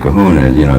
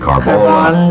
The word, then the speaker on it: Kahuna: I got the biggest kick out of it myself because everybody mispronounces it, and I keep trying to tell them what it's the Big Kahuna. They call me the big Carbola. It's Kahuna, and I thought it was really funny.